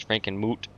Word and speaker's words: Frankenmuth: Or as the correct pronunciation is Frankenmoot. Frankenmoot. The H is silent.